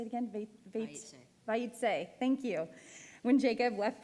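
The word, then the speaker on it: Vayetze: Vayitse.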